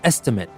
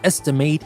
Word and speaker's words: estimate: might have noticed that I'm saying estimate and estimate and that is because the pronunciation is different when I use estimate as a verb I say estimate but when I use estimate as a noun like we say make an estimate that's a noun here which has the